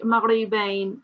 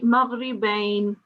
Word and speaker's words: مغربين: Yeah, don't say maghribain. Say maghribain. مغربين. Yeah, do improve on your ra sound.